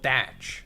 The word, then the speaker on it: Teach: Also, the actual pirate from which Teach was quoted was known as Blackbeard, and he was called Edward Teach and pronounced Edward Thatch.